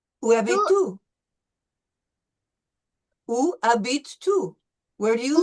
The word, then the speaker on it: habites: No S. We don't pronounce the S.